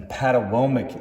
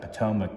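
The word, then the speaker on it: Patawomeck: the Rappahannock s' and the paddle Womack Indian tribe today a lot of us would pronounce that Potomac but that's their traditional spelling so what's really interesting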